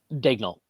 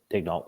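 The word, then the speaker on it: Daigneault: the Pod but um it's Dan Yol right that's how you pronounce uh the Oklahoma City coach's name Daniel or is it Daniel digal yeah digal okay um he you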